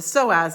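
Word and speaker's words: psoas: The first P we discussed was the uh the soaz muscle which didn't have a sound like a P at all, but it was spelled P S O A S.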